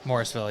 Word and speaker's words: Morrisville: you get to College choose to go to morisville um am I saying that right morisville Morrisville yeah okay all right I've always wondered about